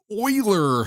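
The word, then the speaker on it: Euler: don't actually know what it'll do with the oiler function which is oer that's how you pronounce thater eer and humer eer and hum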